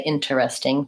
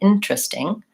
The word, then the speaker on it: interesting: of the word so we talked about the word interesting which I just mispronounced we don't say interesting typically we say interesting so that e is silent I go right from